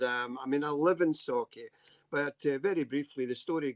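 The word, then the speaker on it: Sauchie: Is it Socky? Is that how you say it? I get in trouble for my accent as it is. Never mind pronouncing things wrong. Socky poltergeist.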